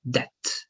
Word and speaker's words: debt: All right, but they pronounce that like debt only, debt.